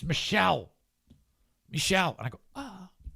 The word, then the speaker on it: Michel: So the script should have said M-I-C-H-E-L parentheses M-E-E dash S-H-E-L-L. Michelle.